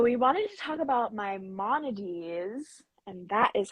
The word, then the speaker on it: Maimonides: a lot so we wanted to talk about my Mones and that is how you say his name